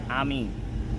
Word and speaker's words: Amin: Amin.